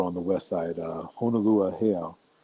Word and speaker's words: Heiau: Yeah, um, and that's over on the west side, Honolulu Heiau, Heiau. Let me pronounce it right.